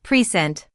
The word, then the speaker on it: present: When we say present as a noun meaning a gift, the stress is on the first syllable pent. But when it's used as a verb, like to present an idea, the stress moves to the second syllable, precent.